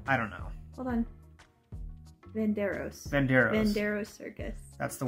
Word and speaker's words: Venardos: I can't pronounce it. Verano's? Hold on. I don't know. Hold on. Venardos.